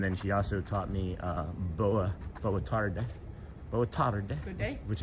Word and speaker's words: boa tarde: And then she also taught me boa tarde.